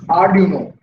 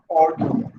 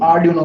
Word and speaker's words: Arduino: इट्स आर्डिनो, Italian word. Italy में जो इसके फाउंडर्स थे उन्होंने इटली में इसको स्टार्ट किया था, तो इसकी स्पेलिंग है आर्डिनो, इट्स नॉट ऑर्डिनो, ठीक है। और इसका साउंड भी आर्डिनो करते हैं।